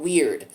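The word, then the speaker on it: wyrd: because this is called word wy it's called weird w-y-r-d is how it's spelled but the theme focuses on fate and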